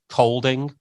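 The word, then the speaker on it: Kolding: you played for in the Danish League was colding am I saying it right absolutely um so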